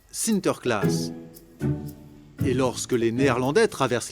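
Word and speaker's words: Sinterklaas: des cadeaux aux enfants au Pays-Bas Saint-Nicolas se prononce sinter class et lorsque les Néerlandais traversent l'Atlantique au 17e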